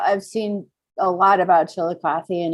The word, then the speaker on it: Chillicothe: a chilly coffee and i love that you pronounced it correctly too nobody ever gets it chillicothe all right let's see